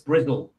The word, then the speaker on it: Bristol: No, it's not pronounced Bristol. It's Brizzle.